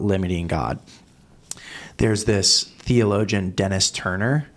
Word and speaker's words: Denys: There's this theologian, Dennis Turner. Annoyingly, Dennis is spelled Denys.